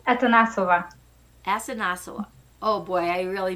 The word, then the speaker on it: Atanasova: How do you pronounce that? It's Atanasova.